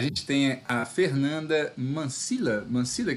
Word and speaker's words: Mancilla: Mancilla que pronuncia? Mancilha, como LH.